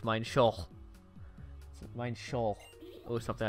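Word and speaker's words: Minccino: like Huey cently and before somebody says it's mine Shou no it's mine Sheol i I should know I said I saw Loxton explain why it's mine Sheol mine Sheol or something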